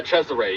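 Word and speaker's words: Cesare: Uh Chzere. Yes. Is how they pronounced Yeah.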